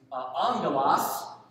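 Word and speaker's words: ἄγγελος: The word angel is a Greek word, spelled with two G's. And the N is not there, it's a sound that comes in with Greek two G's, angelos, which does not mean spiritual being in general Greek.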